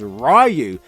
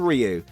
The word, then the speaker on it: Ryu: country throughout the film most of the characters pronounce his name as rayu instead of Ryu being an old school